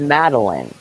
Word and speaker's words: Madeline: my real name is madeline and people always used to call me mad mad so i always would say i made because it spelled like made lines so i would say